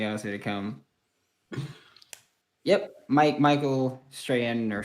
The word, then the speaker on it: Strahan: Yep, Michael Strahan or Strachan, whatever is the. No, Michael Strahan.